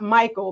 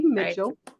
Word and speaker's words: Mitchell: um our identity so it is not Michael because that's what I thought it is Becky Mitchell and she is the